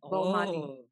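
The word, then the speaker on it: Baumaali: Bomali. Oh. So, you know why I'm confused? Audibly, it would sound like Bob Marley.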